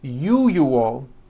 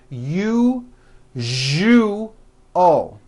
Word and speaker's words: usual: are very very common if you are someone that pronounces the word usual as usual I'm telling you you are not being understood let me show you how to pronounce the word usual correctly break it up into three syllables you jus oh that second syllable jus the one with the underline needs to be voiced put your hand on